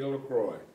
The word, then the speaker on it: LaCroix: thomas e lacroix could you uh spell your last name please